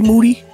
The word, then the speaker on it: Moody: I'm here with G Moody last name rhymes with dudy yep always ready G